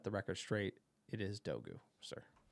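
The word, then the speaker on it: Dorgu: Just to set the record straight, it is Dogu, sir. Pronunciation police, sir. Uh, United, look it up. You can look at YouTube videos how to pronounce the name in Danish. It is Dogu.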